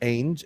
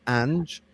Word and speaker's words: Ange: By the way, just so everyone knows, I realized that it's not actually pronounced Ainge, it's pronounced Ange.